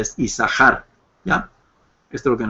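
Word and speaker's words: יששכר: por eso es que el nombre se pronuncia como si fuera una sola Shin sí como isar y no yasar podríamos usarlo también yasar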